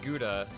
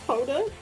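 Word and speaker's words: Gouda: I want some nice smoked guda. Thank you very much. Uh, actually, it's pronounced powder because it's Dutch.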